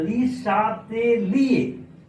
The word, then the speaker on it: Le Chatelier: France में पहले बच्चों सीएच को तालाब्य श पढ़ते हैं, इसीलिए तालाब्य श पढ़ते हैं, इसलिए ली शातेलिए are silent ली शैटेलियस principal, ली शैटेलियस principal.